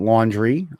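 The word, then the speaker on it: Laundrie: there was this couple Brian laundry uh not laundry spelled like you're doing laundry but actually it's Rie the last uh in last name and her his fiance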